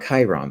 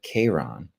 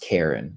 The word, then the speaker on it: Chiron: how Pluto and Kron It's called not Chiron, but Kiron. It might be pronounced Karen. I I'm not sure.